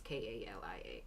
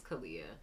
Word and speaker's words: Kalia: didn't want it to be how I normally spell it the regular spelling of my name is k-a-l-i-a Kalia um but there were other artists or